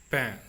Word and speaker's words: pain: La, P plus E, P, la P, and when P plus I joins with N, pain, that will change the sound.